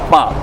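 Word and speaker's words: 白: In Cantonese, it's ba, but I can't spell that, so I'm gonna write it in 普通话.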